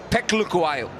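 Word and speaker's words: Phehlukwayo: आगे की गेंद थी, एक और इनसाइड एज और एक और बल्लेबाज जो बोल्ड हुआ, फेलुक्वायो, फेक्लुक्वायो, सही प्रोनाउंसिएशन।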